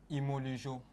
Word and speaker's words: Ymolujo: C'est comme ça qu'on prononce? Imolujo.